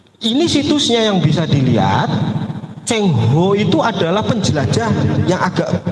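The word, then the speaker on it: Cheng Ho: Nah, datangnya dengan perahu Laksamana Cenghua, bacanya Cengho karena makannya bolet jadi bebas saja ngomongnya Cenghua atau apa.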